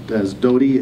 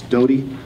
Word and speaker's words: Doty: And so we decided to announce him as Doty. He said the T's are pronounced as D's in his culture, so it's Doty Moeakiola.